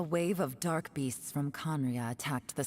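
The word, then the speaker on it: Khaenri'ah: Я слышал, как какая-то ютуберша произносила Конрия как Каенриах. Меня это задело немножечко больше, чем должно было. Каенриах. Серьезно, Каенриах. Я знаю, что оно так написано. Но не легче просто говорить Конрия.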